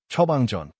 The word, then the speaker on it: 처방전: Now, Andrew, try the key 처방전. Three even syllables. 처방전.